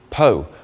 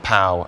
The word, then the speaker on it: Pau: Stage 11 is a 204 kilometre flat stage from Eymet to Pau, which is, I am reliably informed, pronounced Pau as in the Teletubby and not Pau as in the 80s group.